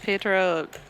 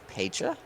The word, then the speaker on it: Pietre: about hung up on things, it's Pietre? It's Pietre. Pietre. Great. Pronounce it Italian style.